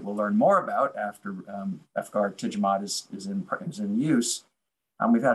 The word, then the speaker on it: efgartigimod: and I'm trying to think about how to pronounce Efgar with a J, by the way, Efgar Jidimod, you know, would be. Efgartigimod.